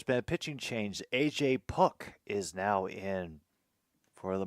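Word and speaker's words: Puk: Puck is now in for the Marlins. And it'll start with a sweeper that will leave Duran staring. 0-1. And it is pronounced how it's spelled, P-U-K.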